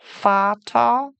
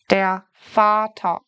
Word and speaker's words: Vater: So the first two words pronounce the V like an F. The second two words pronounce the V like the English V. Der Vater, the father.